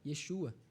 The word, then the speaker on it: Yeshua: A maneira de se pronunciar o nome Jesus em hebraico é a mesma do nome Josué, Yeshua.